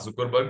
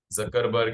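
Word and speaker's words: Zuckerberg: Mark जुकरबर्ग, just a सेक। जकरबर्ग या जुकरबर्ग, whatever pronounce, ठीक है, इट्स जकरबर्ग।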